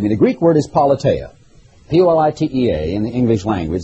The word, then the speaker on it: politeia: Believe me, the Greek word is politeia, P-O-L-I-T-E-A in the English language, the way we might pronounce it in Greek.